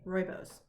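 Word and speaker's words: rooibos: realized that i didn't know how to say roibose it's one of those words that you see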